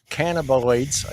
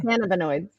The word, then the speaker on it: cannabinoids: i don't even know how to say that cannabioids again another one and like delta eight yeah yeah how do you say it can cannabinoids cannabinoids i got it uh like delta eight